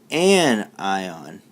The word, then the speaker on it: anion: go let's go black a negative ion is known as an an eye on okay so for example